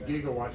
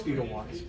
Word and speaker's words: gigawatts: It's actually gigawatts, but he mispronounced it. Oh, yeah? It's gigawatts. Oh, okay. He pronounced the G as a soft G.